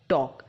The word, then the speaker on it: talk: इसके जैसे और भी वर्ड हैं, जैसे कि walk, talk. यहाँ पे इन शब्दों के L को प्रोनाउंस नहीं किया जाता है.